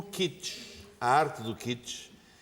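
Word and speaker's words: kitsch: que é uma palavra de origem alemã que se escreve k i t s ch. O kitch, a arte do kits é muito difícil definir.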